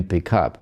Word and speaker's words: pick up: На послелог, на частицу, которая после глагола стоит, падает ударение. Вместо pick up мы говорим pick up.